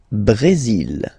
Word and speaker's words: Brésil: Le Brésil. Le Brésil. Okay, you will pronounce the final L here, and then remember, accent aigu goes like E.